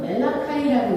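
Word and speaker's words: Malachi: 말라기는 영어로는 멜라카이라고 읽고 선지자의 이름입니다.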